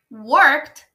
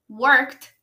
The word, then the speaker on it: worked: meu nome agora Lian worked worked sonzinho de T também no final all day o Liam